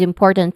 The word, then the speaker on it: important: with a buzzing sound and then im first syllable of important with a short e vowel sound poor the stress syllable of the word it um has a poor poor so it has a short o sound and then tant which has you know which has a schwa sound which means that the vowel sound here is quick, stress, unstressed and relaxed.